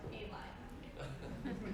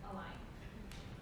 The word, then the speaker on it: A-LIGN: Commonly pronounced A-LIGN. Correct term is A-LIGN.